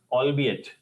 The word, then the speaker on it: albeit: mostly use we so actually we say it as elong absolutely wrong the pronunciation is allbe it all be it all